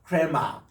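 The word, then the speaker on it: ῥῆμα: 그리고 이제 우리 흔히 했던 레마 할 때 보면은 이게 약간 이렇게 히읗 발음을 섞어서 흐레마라고 읽어주시면 좋습니다. 흐레마인데 히읗을 너무 강조하지 마시고 약간 히읗 섞인 발음을 한번 따라합시다. 흐레마, 크레마.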